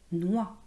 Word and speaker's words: noix: \lɛ\ \nwa\ Vous voyez, on ne prononce pas le X à la fin.